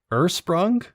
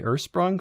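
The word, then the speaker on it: Ursprung: a logger brewed with hopefully i'm pronouncing this right ersprung u-r-s-p-r-u-n-g ersprung fest malt from epiphany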